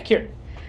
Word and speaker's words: Kieran: Kieran Culkin, am I pronouncing his name right? Yeah, Kieran.